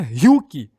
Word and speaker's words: Ryuk: se pronuncia Meru, e o Ryuko, que se pronuncia Ryuki, o deus da morte.